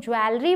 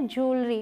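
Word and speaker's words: jewellery: अगला है जिसे बहुत सारे लोग ज्वेलरी बोलते हैं, जो गलत है, मतलब होता है आभूषण। सही क्या है? ज्वेलरी, बहुत ही सिंपल सा है, ज्वेलरी, ज्वेलरी।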